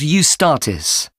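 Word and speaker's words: Eustatis: The next day, the 18th, there's a performance by a ballet company called Ustartis. Sorry, the name is spelled E U S T A T I S.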